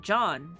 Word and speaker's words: Jean: say Jean Ken Johnny Jean spelled like John Pronounce John oh John John okay